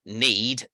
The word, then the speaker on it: knead: You know, for example, if I say I want to work on the word need to knead bread, for example, if I don't know it starts with a silent K, I'm going to spend half an hour looking in a dictionary under N.